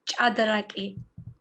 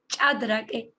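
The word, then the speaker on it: ჭადრაკი: We have some letters which is really hard to pronounce, like ch, for example.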